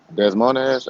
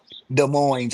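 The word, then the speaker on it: Des Moines: So we got here Desmonz. Am I pronouncing that correct? Demons. Demon. Okay. Sorry about that. He said Deson. I like that. Sorry about that. Wait. Say it again for me. De Moines, Iowa.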